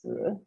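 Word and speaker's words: 死: Now, the number 4 in Chinese is pronounced si, and the word for death in Chinese is pronounced si, and the two of them are very similar.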